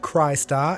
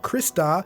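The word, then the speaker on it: Crystar: of Xillia and now I've got to say Christ R which is apparently pronounced Christ are and not Krista even though it's all but identical to a word you may have heard before crystal it doesn't even stop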